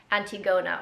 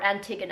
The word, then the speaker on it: Antigona: like how jabonji um redid the antigona or antigona however you want to pronounce it so balanciaga is kind